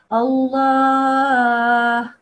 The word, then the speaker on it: Allah: Now the letter before that is Hamza, and that Hamza has a fatha on top. So that way this will be a thick Allah. Allah, like this. If this Hamza or any other letter, whichever one came before this Allah, had a kasra underneath, then we would say illa or whatever it was.